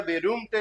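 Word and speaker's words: berühmt: तो बे रियूम्ड, I think ये spelling होनी चाहिए, बेरियूम्ड, क्योंकि एच के आगे जो वोवल आता है उसको लॉन्ग बोलते हैं हम लोग, बेरियूम्ड।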